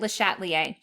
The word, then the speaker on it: Le Chatelier: le chatelier's principle now le chatelier was french i took spanish in high school so you might hear other people say his name different than me um but i've always said it le chatelier le chatelier's principle states